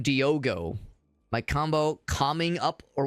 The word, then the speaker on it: Diogo: I thought his name was Diego. He's calling him Diogo.